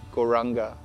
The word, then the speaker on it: gauranga: mantra out loud together gauranga four syllables inhale to begin two more breaths breathing in on this next inward breath let's exhale the mantra gauranga nice and loud breathe